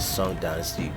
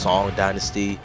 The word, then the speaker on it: Song dynasty: The eagle claw system of kung fu used by kitana originated in southern China during the sun dynasty around the year 1250 AD. It's pronounced song dynasty and it and it's actually around or in between 11:03 through 1141.